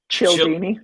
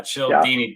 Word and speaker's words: Cialdini: I picked up a book by Robert Cialdini, and I think that's how you pronounce his last name. And it's the psychology. Cialdini. There you go. Yeah, Yeah. Cialdini.